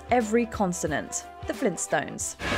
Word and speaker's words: Flintstone: features their name but are you pronouncing it right Arnie quick what's my name Fred Flintstone go tour with me Barney you did it Fred you made it many people would swear there's no tea in the middle of their